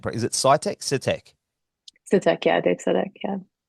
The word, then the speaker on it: Sitek: Is it, I've never pronounced his last name. Is it Sitek? Sitek.